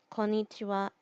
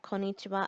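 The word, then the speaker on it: こんにちは: in another video but just know that the reason why the wall part of konichiwa and konbanwa looks like the hiragana ha is because it is a particle so that's all I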